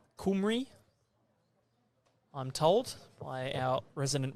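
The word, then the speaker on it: Cymru: end so Wales with the Welsh pronunciation of the country on the back of their shirts there kumry I'm told by our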